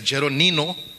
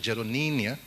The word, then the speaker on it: Jeroninio: He tried pronouncing my name, well attempted, and he said Jeronino. It is not Jeronino, it is Jeroninio, but don't try to